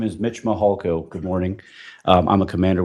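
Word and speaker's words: Mihalko: court reporter you bet my name is Mitch mahalco good morning I'm a commander with the El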